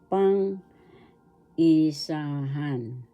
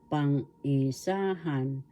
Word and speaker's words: pangisahan: and singular inagalog pangisahan pang isahan first syllable pang second syllable e third syllable sah syllable the accent is in Third syllable pangisahan pangisahan that means singular